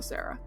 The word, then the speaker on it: Sera: The name of the planet is also Sara. Okay. It's spelled Sera, I think, instead of Sara or Sarah.